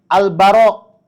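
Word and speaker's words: البراء: Bacanya gimana? Albaro. Huruf r-nya itu enggak ditasydid.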